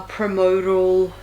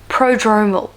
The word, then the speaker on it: prodromal: already have those like irregular promotal how do I pronounce that? I'm gonna look this up because this video is gonna be largely about that. Let's have a look. Prodromal. Okay, there we go.